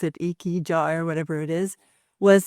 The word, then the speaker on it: ikigai: Can you tell me about ikigai? Am I pronouncing that right?